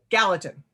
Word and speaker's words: Gallatin: how do you say it galatian valley gallatin gallatin gallatin valley in montana like i said earlier